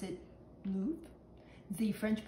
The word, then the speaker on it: Louvre: When I think of Paris, I think of the Louvre. The Americans pronounce it Louvre.